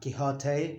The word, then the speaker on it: Quixote: Remember, not Quixote, but Quixote. Quixote. Quixote. Queso, cheese, queso, and so here is one exception to the pronunciation of the U. It's always U, except here that we don't pronounce it. We say queso and Quixote. We don't say queso or Quixote.